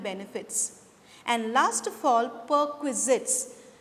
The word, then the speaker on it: perquisites: and last of all per quizzits i'll repeat the pronunciation once again students it is perquisites perquisites or perks are also